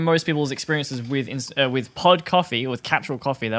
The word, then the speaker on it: K-Fee: yeah, between Aldi and K-Fee, which is assumedly supposed to be pronounced system. Coffee.